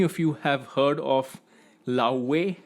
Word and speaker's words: Laufey: I don't know how many of you have heard of Laufey. I think that's how her name is pronounced. She's from Iceland. Laufey.